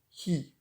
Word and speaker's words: 火: exactement de ce Kenji qui est sorti cette image et ça se prononce qui pour le feu et sinon il veut se prononcer car là vous mettez